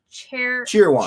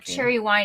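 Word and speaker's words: Cheerwine: that I didn't know not cherry wine it's cheer wine cheer wine yeah said southernly of course right uh it's been around since before I was born in the 60s cheer wine is awesome fastic more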